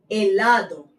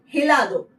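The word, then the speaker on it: helado: Like is आचे, एलादो, एलादो। यहाँ पे इट इज नॉट हिलादो, एलादो।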